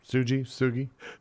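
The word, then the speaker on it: Sugy: Sugi.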